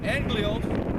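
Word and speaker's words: ἄγγελος: Because the word angel, because of the Greek word, the pronunciation is anglios, which means messenger.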